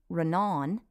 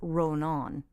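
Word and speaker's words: Rónán: a father in so it'd be run on if it were only on the second syllable and it'd be Ronin if it were going on the first syllable yeah but it since it's on both vowels it's roan on oh very good that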